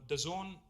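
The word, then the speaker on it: DAZN: and exciting company called The Zone it is pronounced the Zone but it's spelled d-a-z-n now the zone is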